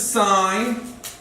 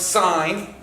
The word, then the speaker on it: sine: adjacent and what's hypotenuse sine cosine remember this is sine it's pronounced sign okay this is cosine